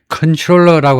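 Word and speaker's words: comptroller: and in the 10선거구에서는 데니 L and former city controller 데니의 측근이면서 또한 맨니에 측근이면서 또한 전에 시티 컨트롤러이 발음은요 콤이 아니고 컨트롤러라고 합니다. 컨트롤러 그 뜻이 컨트롤러처럼이요이 시의 뉴욕 시티의 회계 총 책임자예요.이 컨트롤러라는게 막강해요.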